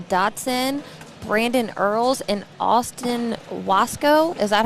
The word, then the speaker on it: Wasco: Cole Brewer, Michael Dotson, Brandon Earls, and Austin Wasco. Is that how you say it? Wascow.